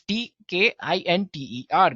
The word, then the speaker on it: Tkinter: Yes, it's spelled as Tkinter, right? So it's Tkinter, guys. Well, among all of these,